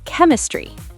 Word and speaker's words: chemistry: Now try chemistry. Ooh, Greek word. So ch sounds like K.